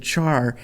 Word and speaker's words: char: say um you know it should be pronounced care because it's short for character and I tend to agree with that but so many people that I work with have said Char uh and I've been